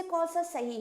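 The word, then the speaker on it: conscience: इसमें ये इसमें से कौन सा सही है? कॉन्सियंस कॉनसाइंस कॉइंस कॉन्सेंस कॉनसाइन कौन सा होगा? इसका प्रोनाउंसिएशन है कॉन्सेंस।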